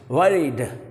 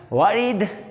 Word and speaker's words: worried: W है, जो भी वर्ड W से शुरू होता है, you have to pronounce that word with your round lips. Worried. अब इसको हम दो तरह से pronounce कर सकते हैं, worried या साउंड जो बर्ड